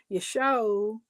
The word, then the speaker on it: Yeshua: Also, the name Yeshua. Now it's pronounced Yeshu in Aramaic.